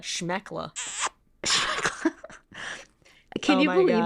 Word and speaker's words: schmeckle: SHMEKLE. I would pronounce that schmeckla.